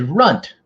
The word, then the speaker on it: Runt: That is Runt, which rhymes with a certain other word that we can't really say on the internet.